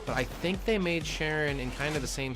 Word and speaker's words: Charon: I want to say Charon, but that's not how you pronounce his name, so we're going to go with Sharon.